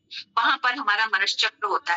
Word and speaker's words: मनश्चक्र: तो उच्चारण कैसा हुआ? मनश्चक्र।